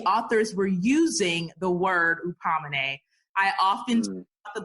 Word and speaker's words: Hupomoné: Hupomoné.